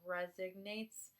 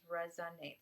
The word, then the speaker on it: resonates: you resonates excuse me I've had people put in the comments that I say like resignates and not emphasize the proper pronunciation which is resonates so I use words